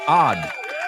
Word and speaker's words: odd: So, the first one, ah, odd. The second one, add. Ah. Ah, I caught you. Add. So, odd. Add. Let's rhyme some words with them. Odd rhymes with rod.